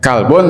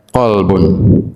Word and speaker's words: qolbun: Jadi ee tulisannya boleh kalbun tapi bacanya ya qolbun itu hati. Tapi kalau kalbun itu nah nanti maknanya anjing ya.